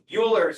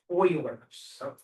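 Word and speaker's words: Euler: Uers again. Why? Yeah, that's how I would say it. It's it's it's really weird. It's actually pronounced as though it starts with a big O. It's Oilers.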